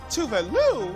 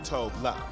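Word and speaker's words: Tove Lo: Tové Lo and not Tové Lo.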